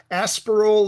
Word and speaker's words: Aspiral: Is it pronounced Aspiral or Aspiral?